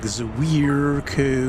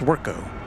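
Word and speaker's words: Zwirko: at it and they just kind of like Ziro and you know just it's just zco but when you see a z and a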